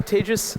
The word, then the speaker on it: Tejas: um Andre's everybody excellent well hey hi I'm tagis um nice to meet you I I often introduce myself by saying I'm tagis that's pronounced like cont and like n out